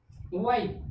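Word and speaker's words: why: वाई, वाई means क्या, एक sorry वाई, वाई means क्यों या किस लिए। क्या हो गया, WY, क्यों, क्योंकि H क्या हो गया, साइलेंट हो गया।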